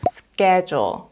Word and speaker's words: schedule: 이렇게 말할 수 있습니다이 단어를 많은 분들이 sch 이렇게 발음을 하시더라고요 하지만 sch 된 소리가 나기 때문에 스케줄이 아니고 skle 이렇게 된소리를 내주셔야 합니다 me 스 존스와 회의